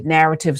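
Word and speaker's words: Knarrative: uh do through a narrative subscription, narrative with a K, the K is silent.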